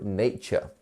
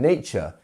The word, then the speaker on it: nature: We would almost pronounce it like this because our TU becomes a ch, and then RE is pronounced almost like a ER, if you think about it.